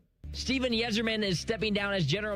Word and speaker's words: Yzerman: Y Z R m- an wiserman. He said Yzerman. You said wiser.